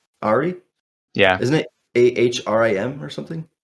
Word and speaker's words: Ahri: I don't know if I'm pronouncing it right. It's the nine-tailed mage, Ari. Ari? Yeah. Isn't it Ahrim or something?